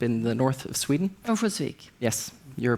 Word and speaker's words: Örnsköldsvik: Örnsköldsvik. Yes. Your pronunciation is much better.